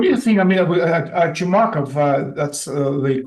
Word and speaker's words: Chumakov: Americans which what do you think I mean chumak of that's the correct pronunciation of his of his last name he's